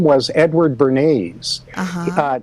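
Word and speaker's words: Bernays: of modern public relations whose name was Edward bernes uh not spelled like the sauce b r n a Ys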